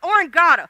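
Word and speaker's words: oreganata: Oranginga. Oranginga.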